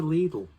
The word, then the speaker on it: Lidl: gesture but we're going over to lidl or little however you want to pronounce it and uh lovely